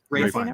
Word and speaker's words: Ralph: Ralph Fiennes. I think he pronounces it Ray, right?